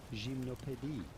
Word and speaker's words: Gymnopédie: But it'd be fine in English to call them Gymnopédie.